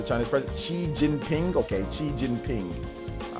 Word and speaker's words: Xi Jinping: Xi Jinping, is that how you pronounce the Chinese president? Xi Jinping? Okay, Xi Jinping.